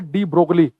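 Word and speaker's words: de Broglie: य हम बता है डी ब्रो साब ने य साइलेंट है जी एल डी ब्रोग लिखा जाता है हिंदी में डी ब्रो साने बताया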